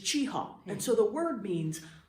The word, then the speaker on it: Cheaha: for the park was chaha very nasy and we have now moved to a modern pronunciation of just chiha and so the word